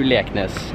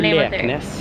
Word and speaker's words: Leknes: SIS to Bodø and then fly over to Leknes.